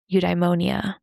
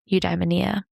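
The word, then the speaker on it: eudaimonia: So maybe the goal should be to seek a life of meaning or purpose or udeimmonia, udeania, depending how you want to pronounce it.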